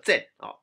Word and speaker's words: Xen: 例如会有 Zen XEN 这个念成 Zen。Zen 这个计划